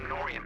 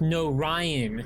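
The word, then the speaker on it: Norion: I was taken prisoner during the attack on Norian, but I've managed to escape. No, it's pronounced no Ryan.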